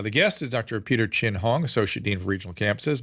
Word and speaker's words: Chin-Hong: diseases in those with suppressed immune systems dr chin hong welcome to the program thanks so much for